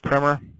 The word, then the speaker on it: primer: into but this is a primer spelled like primer but it's pronounced primer this is math primer